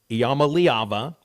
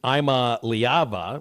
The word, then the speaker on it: Iamaleava: There's Nico Iamaleava, that's the way to say it. Although Dan and Mairada says he pronounces it Imaliava, which I think he's trying to say Imalivia, which is perfect for transfer portal.